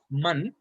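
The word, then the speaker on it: مَن: to learn here is man. Man is who. Now differentiate this from min. Man has a zabar or a fatha on it, and min has a kasra on the meme.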